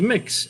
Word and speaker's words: Mix: what's up um oh you keep saying my name is nix my name is mix mix but but hi how